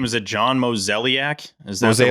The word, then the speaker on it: Mozeliak: Is it John Mozeliak? Is that the right way? Mozeliak, so Johnny Mo.